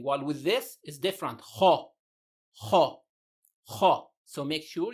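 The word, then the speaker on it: خ: The other, of course, there's a common mistake when saying this letter is to pronounce it as ka. Make sure you say it correctly. Kha, kha. Short, sharp, and heavy.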